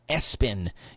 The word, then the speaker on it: ESPN: His family pronounces that Espen Gideon Espen Lampron, but his middle name is all capitalized, just like the ESPN network, ESPN.